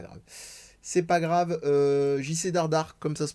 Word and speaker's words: Dardart: JC Dardar, comme ça se prononce, D-A-R-D-A-R-T.